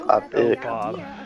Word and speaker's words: avocado: It's not av. It's like avog or avocado. It's avocado.